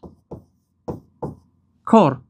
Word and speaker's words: راستکار: در همین شکل است حرف دی تلفظ نمیشود خب با تی مثال میاریم راست راست راست کار رفیق من پسر راستکار است حرفی ت حرفی ت حرفی ت از تلفظ افتاد نیست شد سر ما را خیر راستکار است حرف تلفظ نمیشود و هیچی رام در